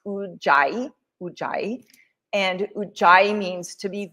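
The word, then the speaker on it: Ujjayi: So ocean breath is also known well it is ui pranayyama in Sanskrit and it's pronounced udai and ui means to be victorious or to gain mastery over.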